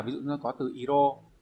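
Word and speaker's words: 色: Ví dụ nó có từ iro, và đọc là iro không đọc là số cự nữa.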